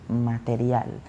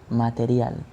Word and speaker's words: material: the pronunciation is different material material so i know this letter r is a little bit tricky because that sound in english doesn't exist okay material material material